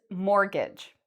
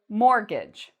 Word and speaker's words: mortgage: t so even though there's a t in the spelling when we pronounce it we say mortgage and the stress is on the first part on the more mortgage